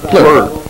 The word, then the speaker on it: Plourde: And that's, how do you say that, Bob Plourde? No, the Plourde. Plourde.